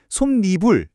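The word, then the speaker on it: 솜이불: 그래서 결과적으로 발음은 솜니불이 되고 없던 니은 소리가 깜짝 등장하게 되는 겁니다.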